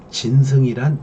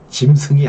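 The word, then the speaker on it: 진승: 개개인 딸의 목에 요 진 승이란 지구 짐승이 아닙니다 발음을 잘해야 되어 짐승과 5 강의 여러분 pc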